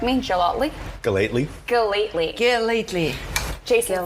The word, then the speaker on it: Gellatly: He said Gellatly. You mentioned that. He said Gellatly. He's one of my closer friends. No, he pronounces your name right.